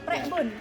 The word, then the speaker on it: Prekbun: Ya, Begitu ya Pak ya, ya, pronunciation-nya ya? Prekbun. Prekbun.